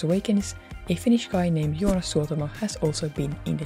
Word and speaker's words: Joonas Suotamo: It's always fun hearing people trying to pronounce his name. Joonas Suotamo.